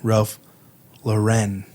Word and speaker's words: Ralph Lauren: And let's say it correctly, Ralph Lauren.